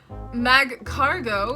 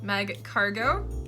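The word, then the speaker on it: Magcargo: all right I'm feeling pretty confident here Slugma mag cargo is how I would pronounce it all right mag cargo by cargo mag cargo mag cargo right yeah sure then we have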